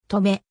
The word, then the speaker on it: 登米: 時に簡易が読み方として止めが軍命に採用されたそのため軍兵衛は止め町名は登米と読むようになったなお合併によっ